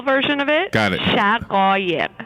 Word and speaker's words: Shaghayegh: I'll do the syllable version of it. Got it. Shaghayegh. Shaghayegh.